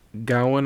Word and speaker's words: Gawain: way to being one sir gowen as they pronounce it i think it looks like gawain but they pronounce it